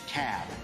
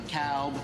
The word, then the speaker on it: Cobb: the room it's the cab not the cowb not the cobb it's the cab so we gotta pronounce these things dougherty another one of those where all benny is they're 74.